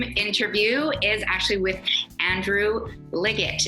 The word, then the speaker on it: Liggett: is actually with Andrew Liggett. Is that the way to pronounce it, Andrew? That's right, hard G.